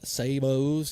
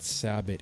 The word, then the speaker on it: sabot: have a bag of sabos here for the uh 457 um 457 s45 now I went on I went on Webster's dictator dictionary and the actual pronunciation is not sabot it is Sabo straight up so I